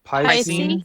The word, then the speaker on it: piscine: How do you pronounce that word for fish? Piscine.